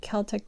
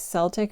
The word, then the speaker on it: Celtic: Celtic or Celtic? I think I'm supposed to say Celtic.